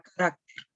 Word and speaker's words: carácter: Veamos la palabra carácter, ¿cierto? Carácter. Tiene la mayor fuerza de voz en la última, antepenúltima sílaba y en caracteres, cuando lo pluralizamos, ha perdido totalmente esa tilde.